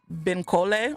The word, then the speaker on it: Bankole: The audiobook I listened to, it's pronounced Benkole.